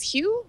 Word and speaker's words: Hu: just Google it yeah you can Google Elise Hugh my last name is spelled hu there it's right on the screen